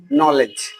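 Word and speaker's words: knowledge: আর তারপর হচ্ছে যেমন নলেজ নলেজ মানে হচ্ছে জ্ঞান তাইলে দেখো কে এন ও ডব্লিউ এখানে কে এর উচ্চারণ বাদে এন এর উচ্চারণ থেকে করা হইছে নলেজ তাইলে কে এর উচ্চারণ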